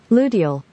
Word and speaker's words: luteal: Well, I said it wrong, but Ludo. Of course, yeah, that's what the point was. We figured you were mispronouncing it. Because that's what you do. The Ludo phase, which these niggas didn't even know existed, is what. Because we don't have vaginas. Luteal. You weren't even close.